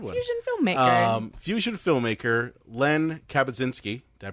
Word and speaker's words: Len Kabasinski: Fusion filmmaker Len Kabasinski. Did I pronounce it correct?